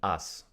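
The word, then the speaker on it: аз: So the letter A wasn't really called A, it was called Azu. Or with the correct modern Russian pronunciation, As, meaning I.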